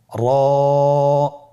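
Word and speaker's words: ر: এবং র হরফটি এক আলিফ টেনে পড়ব। আপনারা আমার সাথে বলুন। র আবার বলুন র এর মাখরাজ কোন জায়গা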